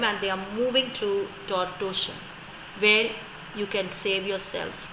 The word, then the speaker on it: Tortosa: That's a Spanish word. That is why the pronunciation is Tortosa.